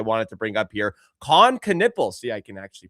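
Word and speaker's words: Knueppel: Coniple. See, I can actually pronounce Con Canipple.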